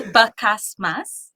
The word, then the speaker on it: Bacasmas: trouble throughout my childhood adult life people just mispronouncing I've heard it all basm basas Mama it's everything it's basas yeah and yes I was born in SIU